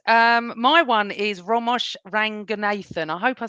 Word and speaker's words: Ranganathan: My one is Ramesh Ranganathan. I hope I said it right. I Done well. absolutely love him. Did I say it right? Yeah. Ramesh Ramesh Ranganathan, Ranganathan.